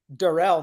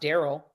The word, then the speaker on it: Darrell: I call you Patty his name is Darrell not Daryl it isn't pronounced Daryl thank you Patty yeah